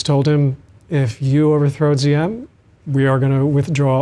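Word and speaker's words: Diệm: not happy with ZM I say ZM you say DM that's okay uh you pronounce it a little bit better yeah um because I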